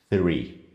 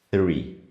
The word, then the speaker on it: three: Para articular esse som, você precisa usar a língua e tocar nos dentes superiores. Three. Por mais que pareça para o seu ouvido que não está acostumado com isso, que seja um som de T ou um som de F, ele é um som diferente.